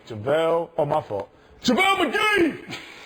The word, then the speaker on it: JaVale: Say his name right. JaVale.